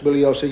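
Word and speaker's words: Bugliosi: any address anywhere Mr bullosa you will stand on your feet okay uh Mr Spence my name is pronounced bullos the g is silent I've told you this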